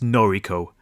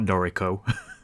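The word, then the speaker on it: Noriko: job in Ginza Tokyo that pronunciation was horrible it's norico not noro of course not all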